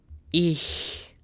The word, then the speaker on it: ich: So our very first word is I C H. Noch einmal. I C H. So it's ich.